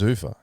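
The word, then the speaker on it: Zuffa: I thought it was Zufa. I thought it was Zufur as well.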